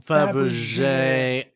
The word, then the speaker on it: Fabergé: I got corrected by somebody. Fabergé egg. Fabergé. We said it wrong last time. Fabergé. It's a Fabergé egg.